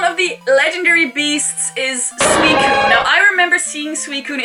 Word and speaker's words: Suicune: Apparently it's Suicune. I just never pronounced it until I found out how to.